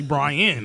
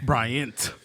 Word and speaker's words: Bryant: be trying to um call me brian i'm like nah nah nah fam hey bri bryant you feel me pronounce